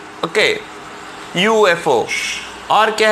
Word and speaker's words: UFO: तो देखो यहाँ पर UFO में यू, वाई, ओ, यू, ऐसा यू का प्रोनाउंसिएशन आता है, मतलब वाई का प्रोनाउंसिएशन आता है, यू का नहीं. Okay, UFO.